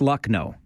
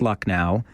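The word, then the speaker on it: Lucknow: in the bleep okay it's bleep no it's luck no so it's not bleep now it's it's luck now it's bleep no it's luck no and that's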